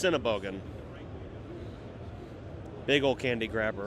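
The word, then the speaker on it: Sennebogen: I don't know how you pronounce the name. Shinaban.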